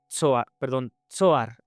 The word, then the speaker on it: Zoar: El sol salió sobre la tierra cuando Lot llegó a Zoar, con acento en la O.